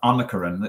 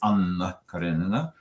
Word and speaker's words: Anna Karenina: And they learned from me that in the Russian language, you do something that is called in linguistics geminating, meaning if you have a double consonant, you pronounce it longer. It's not Anna Karenina, it's Anna Karenina.